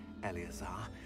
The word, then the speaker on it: Eleazar: okay I got you Tina not speak here Eleazar that's how you say his name why don't